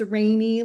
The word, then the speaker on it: Rainey: So, my name is Rainey and it's pronounced Rainy like the weather. Rainey and my business is Neptune Sugar.